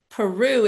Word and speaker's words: Pierrou: Peru is how it's pronounced, but it's spelled P I R O. Like a pier and ru. R O U on the end.